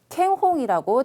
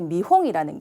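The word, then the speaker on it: 見本: 자, 견본을 우리가 만약에 음독으로 읽으신다고 하면은 A, 캥홍이라고 잘못 읽으실 수도 있을 것 같아요. 자, 그런데 자, D번에 미홍이라는 게 답이었습니다.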